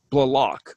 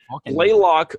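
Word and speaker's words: Blalock: The way they pronounce her name, there's like 3 different versions of how to pronounce her name on the. T-Paul. Well, no, I'm saying Blaylock. Blaylock. Oh, really? Yeah, it's Blaylock, Blaylock, and Balak.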